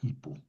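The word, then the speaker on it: ὑπό: Claro, el hipó en en español se antepone la h y suena ipo, ¿verdad?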